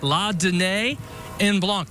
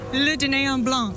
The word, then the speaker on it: Le Dîner en Blanc: I give you the 1-minute warning until we have the date release for La Dîner en Blanc. That's the way I pronounce it. Jessica, how do you pronounce it? Le Dîner en Blanc.